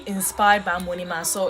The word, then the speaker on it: Amoanimah: So if you see the Amoanimah, it's Amoanimah. I know lots of you find it so hard to pronounce, but it's Amoanimah.